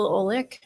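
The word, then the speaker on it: Olek: Ole. And that's spelled O L E K.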